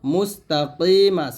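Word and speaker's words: مستقيم: কি, মিম জবর মা, মুস্তাকিমাস। এসে কফটা হলো জিব্বার গোড়া উপরের তালুর সঙ্গে লাগিয়ে মোটা উচ্চারণ করতে হবে, মুস্তাকিম এরকম।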